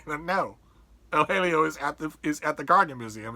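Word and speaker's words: El Jaleo: writes, Julian Barnes writes that John Singer Sargent's El Halio, I know some of you are wincing, but I'm using Sargent's pronunciation.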